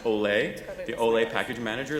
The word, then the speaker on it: OLE: in the actually most people don't know it's pronounced Olay the ole a package manager that allowed for